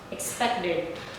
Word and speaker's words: expected: Okay, so you can say started, started, started, and this one invited, invited, invited, expected, expected, expected.